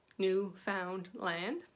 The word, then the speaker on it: Newfoundland: you're not from here you certainly can pronounce it the way it spells new found land and we'll take that